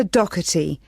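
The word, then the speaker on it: Docherty: have your full name please yes it's dougherty i'll spell that for you it's d-o-c-h-e-r-t-y thank you and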